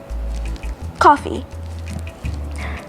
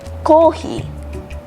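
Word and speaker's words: コーヒー: Coffee. If you say coffee, they might not get that. But if you say kohi, they'll get that as coffee.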